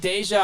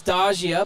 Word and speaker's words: Deja: got that one right deja i thought it was dogia but she corrected me prive emily prive someone